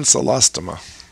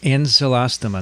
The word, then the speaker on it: Ancylostoma: Ancylostoma. Ancylostoma.